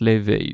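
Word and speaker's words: Laufey: God of War euh bah du coup ça se ça s'écrit loi enfin L A U F E Y mais du coup c'est comme la chanteuse et la chanteuse elle se prononce l'éveil donc je ne sais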